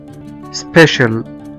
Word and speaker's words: special: ومثلا برضو زي كلمة special، special أو خاص، special، s p e c i a l. هنا في آخر الكلمة لقينا في c i a، فقرأناهم كأنهم شين، special.